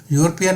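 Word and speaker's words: European: यूरोपियन में ई silent होती है, फर्स्ट जो इसका लेटर है यू होता है, वाई ओ ओ कॉन्सोनेंट हो जाता है।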